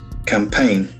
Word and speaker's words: campaign: C A M P A I G N. So this is a very interesting noun with two syllables. Campaign. Campaign. The accent falls on the second syllable.